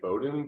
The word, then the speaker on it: Beaudoin: Yeah, no, it's actually Beaudoin because that's how my wife says it.